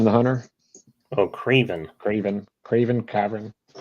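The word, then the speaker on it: Kraven: Cavern the Hunter? Oh, Craven. Craven, Cavern.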